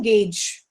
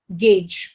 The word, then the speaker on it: gauge: put up viog but what is the correct pronunciation gauge gauge next u rasberry we don't pronounce sp in